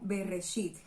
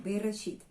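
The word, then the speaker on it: בראשית: Así entonces el primer libro se llama Al principio, que en hebreo suena como Bereshit. Ese es el nombre, Bereshit.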